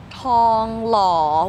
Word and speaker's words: ทองหล่อ: wait it's actually pronounced Tong Law Without th just only T Tong law better yes